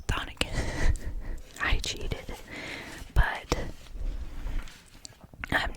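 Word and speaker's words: chthonic: I know it's spelled kind of weird with a C, but I did do the audio book on both of these, even though I do own both copies.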